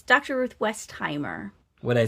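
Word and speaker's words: Westheimer: Ruth Westimer.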